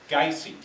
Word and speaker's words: Gysi: No, actually, well, my dad pronounced it Gysi, and my mom pronounced it Gysi.